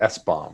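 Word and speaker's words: SBOM: software bill of materials i think they pronounce it s-bomb right and when you think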